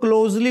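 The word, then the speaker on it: clothes: नहीं है हमने इसको क्लोजल बना दिया च इ च इज रंग आगे जो है क्लोस जो लिखा नजर आ रहा है सस इ actually क्लोज क्लोज टी एच इसमें भी साइलेंट है देन कंफर्टेबल कंफर्टेबल नहीं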